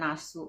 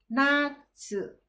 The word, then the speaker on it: natsu: Itu kan summer, atau bahasa Jepangnya adalah nasu. Bukan nasu. Nasu itu terong. Natsu ya, natsu, N-A-T-S-U.